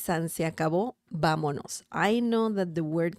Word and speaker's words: vámonos: Vámonos. Vámonos. Vámonos. Remember the accent mark on top of the letter A, because if you don't have it, the pronunciation changes to vámonos.